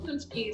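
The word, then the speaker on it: paczki: when you were a kid have what cheese punch keys p a c zk eyes polish jelly no no no okay so it was a thing that i have often growing up yeah but it's pronounced punch k spelled p-a-c-z-k-i right yeah i'm going to spell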